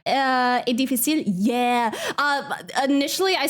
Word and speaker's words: est: And then like French, it's est difficile. Like no pronouncing S, as far as I'm aware.